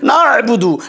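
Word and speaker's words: نعبد: এই দেখেন এই সে উচ্চারণ, আইনের উচ্চারণ দেখেন, নাবুদু, নাবুদু, নুন আইন যেমন নার, এইরকম করে করে কোনো লজ্জা নেই।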